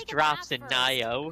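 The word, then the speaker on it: Nioh: Nio. I'm not sleeping Neo? in the It's camp pronounced Neo.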